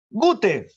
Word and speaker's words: Goethe: La RAE nos dice que si no sabes alemán, lo pronuncias como, ¿no? con tu lengua natural. ¿Y cuál es nuestra lengua materna? El español. Y el español nos dice que dice Goethe. No te das problemas. No lo pronuncies como si fuera inglés. Algunos lo pronuncian Goethe. No, eso es inglés.